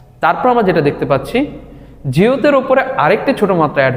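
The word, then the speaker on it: 지읒: এটাকে কোরিয়ানরা বলে জিউত। জিউত, এটার মূল উচ্চারণ জ। তারপর আমরা যেটা দেখতে পাচ্ছি জিউতের ওপরে আরেকটি ছোট মাত্রা অ্যাড হয়েছে, তাই না?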